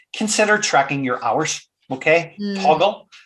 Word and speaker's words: Toggl: Okay, Toggle is an app, and that's spelled Toggl.